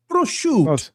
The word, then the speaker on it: prosciutto: You don't pronounce the O. I know. That is lame. That is a cool O sitting at the end, and it gives a flow to it.